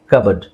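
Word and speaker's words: cupboard: English ಗೊತ್ತಿಲ್ಲ ಅಂತ ಹೇಳ್ಬಿಡ್ತಾರೆ ಸ ಕರೆಕ್ಟ್ ಪ್ರೊನೌನ್ಸಿಯೇಷನ್ ಇಸ್ ಕಬರ್ಡ್ ಇದರಲ್ಲಿ ಪಿ ಸೈಲೆಂಟ್ ಇದೆ ಎ ಅಥವಾ ಓ ಯಾವುದಾದ್ರೂ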